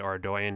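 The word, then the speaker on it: Ardougne: ardyan capes as well and ardyan is the correct way to to pronounce R by the way so the great thing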